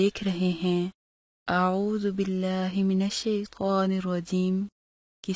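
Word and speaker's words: أعوذ: پڑھنا۔ پھر سے سنیے، اعوذ کی جگہ اعوذو پڑھنا۔ پھر سے سنیے، اعوذ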